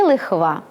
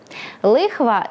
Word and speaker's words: лихва: Навмисно вимовляю його так повільно й виразно, адже це слово має подвійний нормативний наголос. можна і лихва, і лихва, але окрім див з наголосом, воно має ще й кілька значень і різних словотвірних варіантів. Лихва - це відсоток з